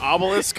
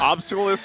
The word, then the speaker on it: obelisk: Is that how you say it? Obelisk? Yes. Obelisk. I'm playing the wrong game here.